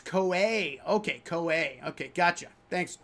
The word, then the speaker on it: Koei: It's Koei. Okay, Koei. Okay, gotcha. Thanks, Old Crow. I always mispronounce that name.